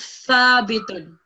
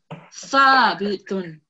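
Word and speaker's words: ثابتٌ: Thabitun. So your tongue should be coming slightly out of your mouth, and it should be touching your upper teeth when you say this word.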